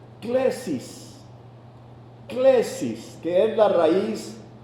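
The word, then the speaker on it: κλῆσις: Vocación viene de una palabra en griego que se pronuncia klesis.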